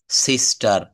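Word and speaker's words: sister: শব্দের শেষে যদি আর থাকে, তাহলে সেই আর এর উচ্চারণ হবে না। কেমন? শব্দের শেষে আর থাকলে আর এর উচ্চারণ হবে না। যেমন ফাদার, মাদার, সিস্টার, ব্রাদার এর কোনো জায়গায় কিন্তু আমরা আর বলবো না।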